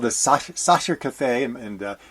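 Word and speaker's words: Sacher: a place called The Sasha Cafe and my German pronunciation is not as good as it used to be s-a-c-h-e-r is the way it's spelled right behind the opera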